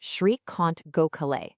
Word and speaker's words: Srikant Gokhale: And that's pronounced Srikant Gokhale.